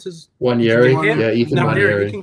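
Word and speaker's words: Nwaneri: Maybe you get more of I keep on forgetting their youngster that Namwari, I think that's how you pronounce his. Wanyeri, yeah, Ethan Wanyeri.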